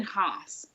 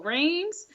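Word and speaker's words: Reims: uh because it's in Hans which is spelled re e i Ms so for forever I was like oh rings so thank you French people for straightening me all the way out I know I say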